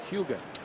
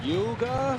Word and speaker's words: Hyuga: Hyuga. And there was a good pronunciation lesson from Aoki to Ed Cedar, who's from Illinois and is having a tough time with Hyuga. kept saying, Yuga.